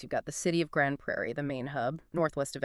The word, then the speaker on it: Grande Prairie: But we're focusing on a very specific, really dynamic spot in northwest Alberta, the Grand Prairie that's pronounced Grand Prairie Green Corridor.